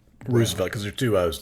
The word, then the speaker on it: Roosevelt: The man would be Teddy Roosevelt.